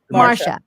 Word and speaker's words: Marcia: Marcia.